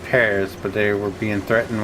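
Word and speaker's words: PVRIS: P R I S is pronounced Paris. We just we just making up these days. Well, yeah, cuz the V looks like an upside down A, so we're going to pronounce it Paris.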